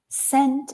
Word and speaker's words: scent: The same pronunciation as a small unit of dollar.